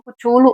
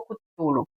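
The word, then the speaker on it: Cthulhu: Bom, eu vou falar assim, tem cutulo, tem várias pronúncias, né? Eu conheço como cutulo ou cutulo, certo?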